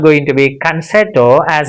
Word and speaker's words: concerto: Concerto. Can you repeat after me? Can, chair, to.